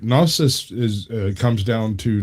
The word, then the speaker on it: gnosis: But the reason that the G is silent is because it comes from the Greek word, which sometimes you get and it's like a gneo sound.